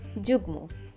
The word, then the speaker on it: যুগ্ম: যুগ্ন অনেকে উচ্চারণ করে থাকেন যুগ্ন। সঠিক উচ্চারণ যুগ্ম।